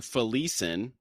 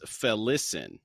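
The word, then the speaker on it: Felisin: oh okay and then we've been saying felican he says felicin for listen Okay and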